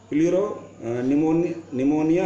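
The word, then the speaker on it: pleuropneumonia: और नाम के लिए मैंने लिखा है, इसको बोलते हैं ये प्लूरो निमोनिया लाइक ऑर्गेनिज्म। तो LO लाइक ऑर्गेनिज्म और PP क्या बोलते हैं, प्लूरो निमोनिया, और ये P जो है साइलेंट रहता है।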